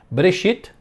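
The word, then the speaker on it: בראשית: Querer, então, Bereshit, então, não é Bere, é bem rápido, né? É como se fosse Bre, é como se fosse B-R-E.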